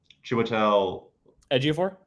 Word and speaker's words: Chiwetel Ejiofor: The first time I ever saw Chiwetel Ejiofor? Yes, that's how you pronounce it.